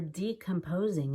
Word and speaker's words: decomposing: the opposite of stop but for decomposing we do mean the opposite of composing we mean falling apart in their grave the depressed patient feel